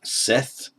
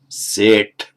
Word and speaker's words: Seṭṭha: Some of them pronounce it Seth, but in fact it is Seṭṭha, because just as by standard phonetic mutation, śreyas becomes seṭṭha in Pali, so equally the Sanskrit śreshṭha becomes seṭṭha in modern Hindi.